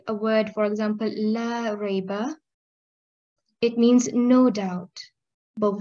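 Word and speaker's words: لا ريب: a word, for example, la rayba, It means no doubt. But when we do not prolong the word Allah and we say instead Lareba, that means show doubt.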